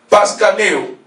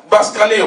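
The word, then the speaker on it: βασκαίνω: Ce mot qui est traduit par fasciné, par ensorceler dans la version de notre sœur, vient des termes grecs, paskaneo. Ça s'écrit par B-A-S-K-I-N-O. Baskaneo, pardon.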